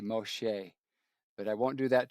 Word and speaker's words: Moshe: If I pronounced Moses in Hebrew, it'd be Moshe.